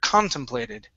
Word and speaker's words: contemplated: Okay, and our stress is right here, contemplated.